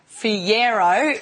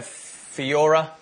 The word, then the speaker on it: Fiyero: I just had to get the pronunciation right. Fiyero, yeah. Well, I think I've had Fiora. Pajero, Pajero, I think it's been in there as well. Fajola.